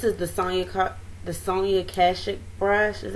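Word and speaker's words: Sonia Kashuk: like this this is the sony cut the sony akashic brush is how you say it the regular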